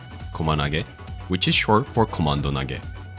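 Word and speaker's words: コマンド: Komanage, which is short for komando nage. Komando is Japanese pronunciation of command.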